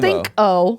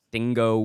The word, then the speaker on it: Stingo: Stingo. Not bingo. Not and his not name. Stinko. No, Stingo. Yeah. Last name Wheelie. Absolutely. Spelled as you expect. Okay. Stingo Wheelie.